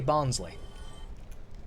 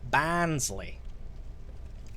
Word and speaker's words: Barnsley: down Barnes the way people around Barnsley like I say bonsly people in Barnsley live about 120 miles from me also if you go to Barnes Lee they pronounce it like bands Lee literally a stone's throw and